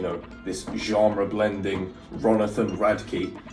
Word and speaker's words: Radke: I believe that's how you say his last name. I think somebody broke it down for me phonetically, like Rad and then Key. But yeah, I had no idea how to say that before. I was saying Radka. Ronathan Radka.